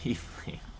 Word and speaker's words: Tiefling: Because it's like a tie. Okay, so Tiefling. In real life, it's pronounced Tiefling.